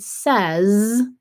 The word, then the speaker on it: says: a tricky way because in the word says that z sound at the end is made by the s so there are two